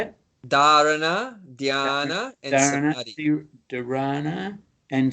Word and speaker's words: Dharana: Dharana, dhyana, and samadhi.